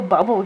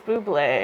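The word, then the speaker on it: Bublé: I'm really liking this Michael bubble guy like that's Buble Santa Baby Santa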